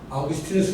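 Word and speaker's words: Augustinus: 원래는 라틴어로 아우구스티누스인데 영어로 이걸 하다 보니까 미국 사람들은 이게 발음이 잘 안 되니까 그래서 아우구스티누스 발음을 못하고 어거스틴 이렇게 발음하는 거예요.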